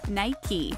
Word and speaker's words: Nike: as one syllable Mike but it's actually two syllables Nike and if you're wondering